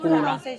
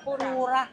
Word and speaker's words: Pura: ano ba ang tamang pronunciation? Pura. Pura. Ayun. Pura 70.